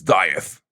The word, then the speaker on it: DIETH: Yeah, the correct way to say this band's name is DIETH. Yeah, it has some has some uh, uh, body to it.